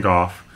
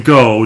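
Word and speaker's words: Van Gogh: back and saw vincent who anyone was visiting golf knows that you know he was a very troubled man that's how it's pronounced it's good in america we say vince van gaal doesn't mean it wasn't pronounced the point of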